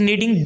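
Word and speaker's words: knead: मालिक सेंटेंस है चीज नीड डफ चीज ने डिफिकल्ट मतलब होता है घोड़ा आ और गूंथने के इंग्लिश एंड नीड तो शिष्य धुंध पड़ेगी हम यहां पर के को साइलेंट कर देंगे तो यह चीज नीड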